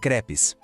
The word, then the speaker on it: crêpes: Et évidemment, la star de la fête, ce sont les crêpes. Pour bien prononcer ce mot, faites attention au son du « e ». Il est plus ouvert, vous voyez ?